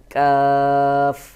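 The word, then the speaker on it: ق: Gyne কাফ কফ দেখুন কাফ আর কফ উচ্চারণের অনেক তফাত রয়েছে আমারটা ভালো করে শুনে নিবেন এরপর আপনারা উচ্চারণ করবেন কাফ স্বাভাবিকভাবে উচ্চারণ হবে আর দুই নুক্তা হলো কফ শক্ত করে আওয়াজ গোল মতো করে উচ্চারণ হবে কাফ কফ কফ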